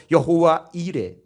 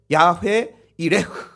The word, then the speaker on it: 여호와 이레: 여호와 이래. 여호와 이래 하면 약간 감흥이 없잖아요. 히브리어 원어로 원어 발음으로 야회 야회 이레흐 이래 흐가 좀 어려워요. 흐는 무음처럼 발음하는 건데 그냥 야회 이레흐 한번 해 봅시다.